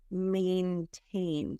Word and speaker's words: maintain: mention before we continue is maintain so that's mine but may like the month of May a he may maintain and then confidentiality the